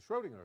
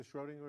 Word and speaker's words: Schrödinger: It's called the Schrödinger equation. You're probably not used to seeing it in that form. Anybody have a favorite form for the Schrödinger equation that we want to compare this with?